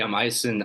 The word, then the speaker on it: Aisen: Aisen. Am I pronouncing that right? Yeah, that's right. Hey, I'm Aisen.